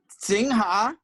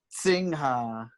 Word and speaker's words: Singha: You gotta say it like there's a T in front of it, like Singha.